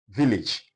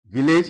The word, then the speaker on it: village: Jam, like they'll give you words like village, which we wrongly pronounce as village. This word is not pronounced as village, it is pronounced rather as village.